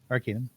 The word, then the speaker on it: Arcanum: Arcanum? Yes. Arcanum.